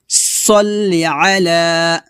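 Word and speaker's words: صلِّ على: তারপর সল্লি আলা আলা, দেখুন আইন উচ্চারণটা খেয়াল করুন, সল্লি আলা, এভাবে। আবার বলেন সল্লি আলা, একসাথে পড়ি, আল্লাহুম্মা সল্লি আলা।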